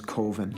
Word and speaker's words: Coven: Uh, the name of the film is Coven. Coven. Coven. Uh, coven. Uh, that's the proper pronunciation. No, no. Coven sounds like oven, man. And that's just it doesn't work.